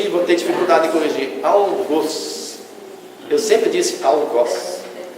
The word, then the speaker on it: algoz: Algoz, palavra oxítona cuja pronúncia do O deve ser fechada como arroz.